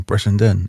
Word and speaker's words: Brittenden: And it would be Britain, like England, Ireland, Scotland, Wales is Britain, and a loud noise is a din, Britain din. Easy.